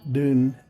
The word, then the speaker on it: dune: Dun, meaning from the hill, and so dun sounds like down. I believe the Scottish pronounce it like that.